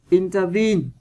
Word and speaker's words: intervene: Intervene, vần 3.